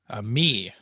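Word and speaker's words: Mii: Me. Me. It's a That's me. what it is. Yeah. It's a me. That's right. M-I-I.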